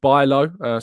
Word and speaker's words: Bijlow: Rich says, Tom, it's pronounced Bijlow.